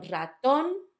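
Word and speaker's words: ratón: The first one, raton, it's on the last syllable.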